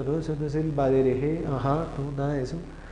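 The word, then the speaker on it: בדרך: Eso no es el badereje, ajá, no, nada de eso. Esto es simplemente baderej. Al final no suena. En el vocabulario con melej lo teníamos. No es meleje, es melej. No es badereje, es baderej.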